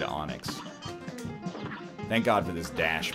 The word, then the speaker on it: Enix: It's spelled Enix, but it's said Onyx.